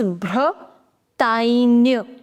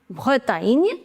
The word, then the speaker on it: Bretagne: whenever you have GN in French, you pronounce it as near. So it becomes Bretagne. Bretagne.